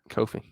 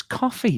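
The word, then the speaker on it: Ko-fi: We have a coffee at the Stardom Cast. Again, no. You say Kofi wrong and it annoys me. It's coffee. Kofi. It's coffee. It's not Kofi.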